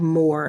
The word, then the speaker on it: Mōr: It's called more and it's spelled M long o. And it's as in meant for more.